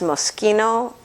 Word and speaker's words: Moschino: There's a designer that's spelled Moschino, but it's pronounced Moschino, kind of like my husband always calls the appetizer bruschetta, but it's bruschetta.